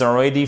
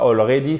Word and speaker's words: already: I can believe my grandson is already 5. Ok? Et c'est pas already, c'est already. Faites bien l'accent tonique ici et c'est un E.